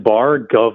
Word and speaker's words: Bargov: Is it Bargoff? I just don't know. Bargoff? Is that Hey you? guys, it's bar like bar, gov like governor.